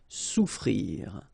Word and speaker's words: souffrir: Okay, so double F is not pronounced. Okay, so souffrir. Fermer.